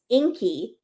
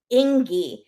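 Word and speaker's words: Ingi: her boyfriend's name is Inky and the sister starts calling him Ingy because it's spelled i n GI but the G is pronounced like a k and so Fanny the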